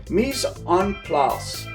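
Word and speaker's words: mise en place: out uh it's uh in french it's it's pronounced mis on plas and uh what that means is everything is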